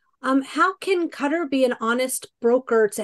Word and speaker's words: Qatar: Qatar, of course, is in Arabia. The U.S. military often calls the country gutter. It's just they can't pronounce the Q, I suppose.